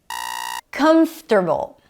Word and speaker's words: comfortable: Comfortable. Comfortable. Primary stress is on the first syllable. It's not comfortable.